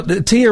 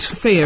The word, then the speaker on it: Thea: I'm like now tier or Thea. Which was which was right. Thea is the right.